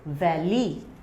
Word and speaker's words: valley: Our next word is valley. Valley. So can you see valley? From the teeth it will press on lip and you will pronounce V, valley, va for valley.